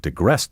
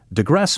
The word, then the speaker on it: digress: If she hadn't digressed so much, her lecture would have been more interesting. Digress may also be pronounced digress.